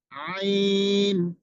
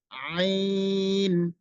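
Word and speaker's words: ع: প্রথমত আগে উচ্চারণটা শুনে শুনে শিখে নিতে হবে। আইন, আমি বলছি আপনারা অবশ্যই ট্রাই করবেন। আইন আইন আইন।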